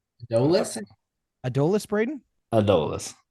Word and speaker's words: Adolis: how do you say the first name Adis adolis Braden adus adolis Garcia right this kid just broke a record